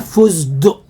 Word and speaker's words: فستق: كده معانا كحك بالفستق فستق انا كنت مفكر يا جماعه ان هي بتتكتب فزدق بالدال فزدق زي ما بننطقها كده طلعت مكتوبه ايه فستق ده بقى كيلو برده